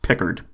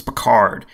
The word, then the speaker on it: Picard: Also, our name is pronounced Pickard. No, it's not. It's Picard.